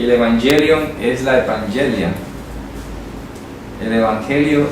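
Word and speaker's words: εὐαγγέλιον: Voy a ponerlo con Y para que lo pronunciemos en griego. Evangelion, así se dice en griego.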